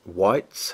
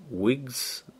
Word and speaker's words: wights: While Ancient Barrow is the active location, all whites, how the hell do I pronounce that? W-I-G-H-T? Wights? I want to say white, but it's not whites.